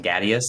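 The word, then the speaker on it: Ghadius: there and then find out that it's gadus gadius that's how you say his name Gus gadus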